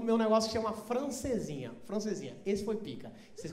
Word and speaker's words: francesinha: porto, vou comer uma francesinha. Primeiro que eles comem uma sílaba, aí eles falam, vou comer o quê? Franzinha.